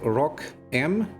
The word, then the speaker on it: ROCm: they are teasing the they call it Rock m M yeah Rock M it's how it's pronounced it's not welcome or